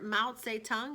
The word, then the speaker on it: Mao Zedong: Mao Zedong is how you pronounce his name.